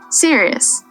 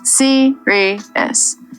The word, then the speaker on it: serious: There's no W sound at all. Serious. 3 syllables. Serious. Some learners compress it down to 2 syllables. Slow it down. Serious.